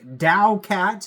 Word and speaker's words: TAOCAT: talking about but uh that is how you actually pronounce t a o is Dow so I guess we'll